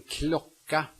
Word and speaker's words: klocka: The first one is CK, which is pronounced K. The C, I think, is only there to mark that the preceding vowel is short. En klocka, en klocka.